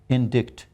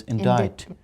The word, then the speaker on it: indict: If you ask any Pakistani, he would say indict, but the word is indict.